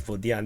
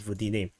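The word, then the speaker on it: Vodiane: I just realized this is not pronounced as Vodian, this is pronounced as Vodine.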